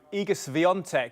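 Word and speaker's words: Iga Świątek: week for Emma ranu igus vont is the pronunciation I have but to be fair I'm not fluent in Polish so that's my best bet from what we what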